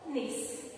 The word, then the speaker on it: knees: Same here, the K is the silent. So, knees.